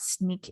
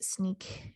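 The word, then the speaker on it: Snyk: and things like that sneak is one of them um i think you pronounce sneak s and yk um which will check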